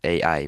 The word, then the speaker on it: AI: By the way, Bara, it's not pronounced all. It's pronounced AI.